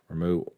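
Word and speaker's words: Ramuh: the summoned category of Ramah. Apparently, and this is according to Twitter, so it must be true, R-A-M-U-H, Ramah, Ramu, is apparently it's supposed to be pronounced Ramu, as in R-O-M-O-O.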